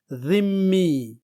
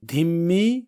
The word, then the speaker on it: ذمی: جیسے ایک عربی لفظ ہے ذمی، لیکن انگریزی میں بہت سارے لوگ اسے دھمی پڑھتے ہیں جو کہ غلط تلفظ ہے.